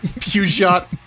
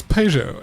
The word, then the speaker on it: Peugeot: Peugeot yes Persia Pedro not not hugeot like the Pokemon it's Peugeot I've heard that pronunciation